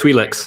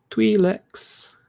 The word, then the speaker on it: Twi'lek: in the pod race Twi'leks. hangar prior to the race? Twi'leks. I'm going to give you 2 pronunciations, Twi'lek or Twi'lek. I'll take either one, sir, and I'll give you 2 points for your trouble.